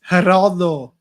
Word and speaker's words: Geraldo: coraldo but it is it's spelled Geraldo so it's Heraldo haralo pu Ric medians